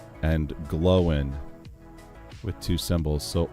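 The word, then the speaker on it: Glóin: the Rings Owen and glowen with two symbols so o oh so it's not o and gloin it's Owen and gloen they are not pronounced to rhyme with coin okay so it's it's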